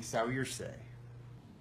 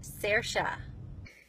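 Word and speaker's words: Saoirse: name, it would be Sawyerse. Sawyerse. Yep, their boat's name is Sawyerse. Sawyerse. Is it Soiree? No, like a Sawyerse? Sawyerse? Sawyerse? Sawyerse. Sawyerse? Sayers? Hey, the name is pronounced Sersha.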